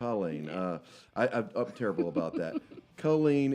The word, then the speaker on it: Culeen: I always say Colleen. I'm just saying it wrong, aren't Culeen. I? Culeen.